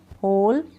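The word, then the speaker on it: whole: पढ़ा ही नहीं जा रहा है, ठीक है, साइलेंट है इसमें। हुम, क्या है ये? हुम, हुज। इन सब में ऐसा है, हु, होल, हुम, हुज।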